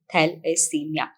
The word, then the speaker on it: thalassemia: today we are talking about thalassemia which is pronounced as thalassemia it is a kind of anemia which is